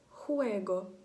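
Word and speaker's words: juego: І завжди в іспанській, в будь-якому місці, де б вона б не стояла в слові, вона вимовляється як звук «х». Наприклад, слово «хуего». «Хуего».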